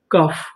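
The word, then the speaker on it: cough: सी ओ यू जी एच कफ।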